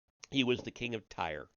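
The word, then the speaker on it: Tyre: He was the king of Ty. That's how I've heard it pronounced. T Y R E. Ty.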